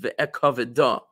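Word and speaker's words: ואכבדה: But in a scroll, it's written like this, missing the letter hey, even though it's pronounced ve'ekaveda, as though it would be spelled with a hey at the end.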